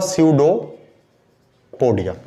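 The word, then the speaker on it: pseudopodia: इसको हम बोलते हैं स्यूडोपोडिया, पी साइलेंट होगा, ये हुआ स्यूडोपोडिया, ठीक।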